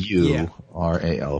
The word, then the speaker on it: pleural: So he's got broken ribs and it says here, am I pronouncing plural? A pleural Like effusion. plural, It's like a little more hard. P-L-E-U-R-A-L, pleural effusion.